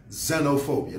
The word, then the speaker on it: xenophobia: you say it and this is how you spell it xenophobia now the word xenophobia